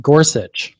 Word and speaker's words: Gorsuch: not supporting gorsi um is it gorsi or Gorsuch Gorsuch oh okay I've been saying it wrong the whole time I've heard many like